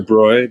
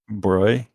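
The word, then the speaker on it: Broglie: luge louis d wrote how do you say his name sorry it's a broy basically broy louis de bruyne wants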